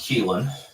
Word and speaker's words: Keelan: Yeah, it's pronounced Keelan.